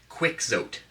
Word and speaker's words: Quixote: So, and I know it's pronounced Don Quixote. Quixote. All right, I'm not Mexican. I'm North American. I speak English. Okay, it's Quixote. Don Quixote. That's how it should be pronounced, if you ask me.